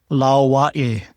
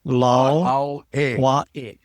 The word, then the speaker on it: lauae: Okay, it's Lauae. Lauahi. Lauae. See, the A in this last word is kind of pronounced Wa-E. This is the Okina, or the glottal sound. That's the punching sound.